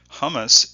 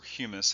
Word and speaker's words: humus: Hummus is or humus as it probably should be pronounced is basically a highly decomposed organic material.